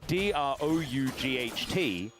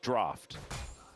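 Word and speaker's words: draught: So, D R O U G H T is draft, but people think it's pronounced drought, and it's just not. It's just a dumb English word.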